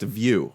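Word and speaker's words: Vue: Playstation view is pronounced it's pronounced view like v i ew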